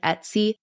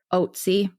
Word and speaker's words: Ötzi: Some pronounce it like almost like Ötzi, but it's Ötzi, and it's an abbreviation of the mountain range we talked about.